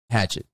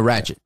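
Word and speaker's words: Ratched: Is it Nurse Hatchet? No, Ratchet.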